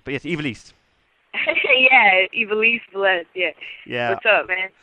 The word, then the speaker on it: Vélez: I'm terrible at pronouncing her surname, but yes, Ivelisse. Yeah, Ivelisse Vélez.